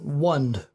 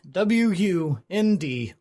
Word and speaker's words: Wund: The shaman's name was Wund. Wund. W-U-N-D.